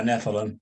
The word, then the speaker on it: Nephilim: So first, Mark, what were the am I pronouncing the Nephilim right? Is it Nephilim? Yeah, Nephilim.